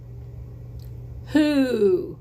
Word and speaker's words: who: see a lot from who does not make the woof woof sound at the beginning but number eight there